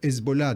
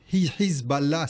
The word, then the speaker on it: Hezbollah: Alors effectivement, le parti de Dieu, en arabe Hezbollah, d'ailleurs Hezbollah c'est la prononciation iranienne, Hizballah, c'est en arabe. Hezbollah, c'est en persan.